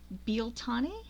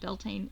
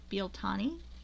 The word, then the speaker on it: Bealtaine: in is actually an Irish speaker, and corrected pronunciation of this today. This is Bealtaine. Americans who ruin everything by saying it wrong call it Beltane. It's not Beltane, it's Bealtaine.